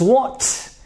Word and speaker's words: walked: if this is unvoiced, you will pronounce this ED with a T sound. So this is not walked, this is walked.